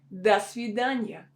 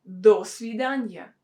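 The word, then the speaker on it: до свидания: example in the sudanya das vidanya we don't say dos vidanya dos vidanya it will sound really unnatural we have this preposition do that should be pronounced as da because it's not stressed that's widanya dania okay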